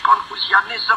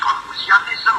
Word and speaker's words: Confucianism: Confucianism, Hinduism, Confucianism, Hinduism. He's emphasizing the ism. It should be like Hinduism, Confucianism.